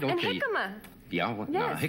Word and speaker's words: jicama: And jicama. Yeah, well, yes. No, jicama, I'm not... It's spelt with a J.